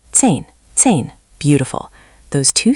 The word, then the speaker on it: zehn: Zehn, zehn. Beautiful. Those two sound targets, German z as ts and i as i, will make your numbers much easier to understand and be understood.